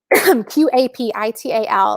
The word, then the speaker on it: Qapital: And actually, it's spelled with a Q. So hold on. So let me drop this in the comments. So Capital is a fairly new tool, Qapital, which basically does set up a separate account for you.